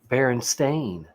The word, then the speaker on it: Berenstain: or steam and so if it had been stained for us we wouldn't have had any problem pronouncing berenstain you know you can only pretty much say that one way stain but if it's steen